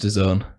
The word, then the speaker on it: DAZN: It's pronounced DAZN.